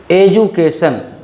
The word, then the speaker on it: education: The next one is education. Here also D gives the sound of badi jaw.